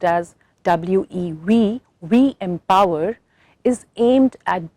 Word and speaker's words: WE: This program, which is called WE, pronounced as W-E-We, We Empower, is aimed at doing exactly the same.